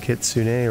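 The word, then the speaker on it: kitsune: Sun wait she and kitsun or kit Sun I know the Japanese pronunciation is kitsun but k sun is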